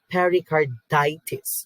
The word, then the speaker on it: pericarditis: the word pericarditis okay how are we going to pronounce this one that is pericarditis okay we need to emphasize titus in this uh medical term okay next how about spelling